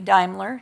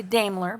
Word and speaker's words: Daimler: Trucks North America and I did check on the pronunciation and in Germany it would be Daimler some people say Daimler but I learned it as Daimler today so there's another history